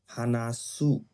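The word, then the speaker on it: 話す: উ sound থাকে, যেমন হানাসু, মানে বলা, হানাসু, উ একটা উচ্চারণ আছে, সু বলেন না, আপনার মাথার মধ্যে চিন্তা করেন সু উচ্চারণ না। উচ্চারণটা শেষ হয়েছে উ দিয়ে, হানাসু।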